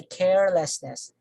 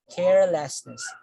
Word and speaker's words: carelessness: So the stress falls on the first syllable, and then we say carelessness, carelessness. So although we add ness here, the stress still falls on the first syllable, the same parent.